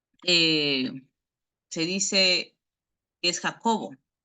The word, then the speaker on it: Jacob: Jacob en hebreo es más pronunciado como Jacob.